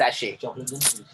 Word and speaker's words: sachet: जो सैशेट है वहाँ पे तो उसका प्रोनाउंसिएशन उसका सैशे आएगा ना? Yes, sachet.